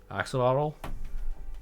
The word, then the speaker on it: axolotl: soul and her family um how do you pronounce that by the way axel toddler actually model axolotl yep just a tiny accidental cute adorable pink